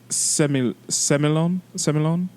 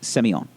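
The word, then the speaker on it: Sémillon: And the grapes are Sauvignon Blanc, and Semillon. You're close. I just hold on. Semillon. You're in the ballpark. Okay. So it is actually pronounced. Hold please. It is pronounced Semillon.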